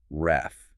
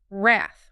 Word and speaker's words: wrath: And we absolutely must emphasize that short a sound here, right? Like the a in cat. Wrath. Many speakers might mistakenly stretch it or maybe drop the r sound somehow.